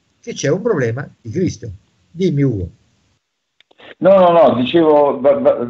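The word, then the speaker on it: Χρηστός: Cresto e non Cristo, perché in greco scrivere Cresto si legge Cristo, quindi scrivere Cristo o Cresto è la stessa cosa.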